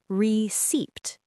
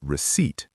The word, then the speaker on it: receipt: A lot of people pronounce the P receipt, but that's incorrect. The correct pronunciation is receipt. That P is completely silent, invisible, like it was never there.